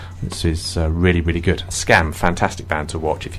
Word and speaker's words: Skam: The second letter's No, it's Scam.